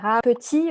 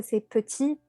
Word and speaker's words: petit: souvent petiT alors que c'est petit et le -t est muet.